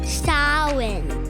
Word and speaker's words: Samhain: Samhain is the name Halloween in Irish, which has got an unusual spelling, Samhain. But it's pronounced Samhain.